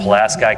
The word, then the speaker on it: Pulaski: If you're Polish, I know it's pronounced wrong, but that's how they pronounce it in Indiana. Pulaski County.